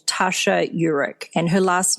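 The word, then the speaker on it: Eurich: the work of an organizational psychologist called Tasha Uric and her last name is spelled e-u-r-i-c-h if you want to look up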